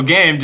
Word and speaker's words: Gamed: initiation and lockdown on game.d. So or game. How do you say it? Game D or do you say game? It's just gamed. Gamed. Dot D is obviously the Germany bit.